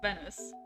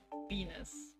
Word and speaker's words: Venice: It's got the ish sound, not like Venus the plant. So, Venice. Not Venus.